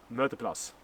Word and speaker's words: møteplass: So be sure not to park at the sign Møteplass.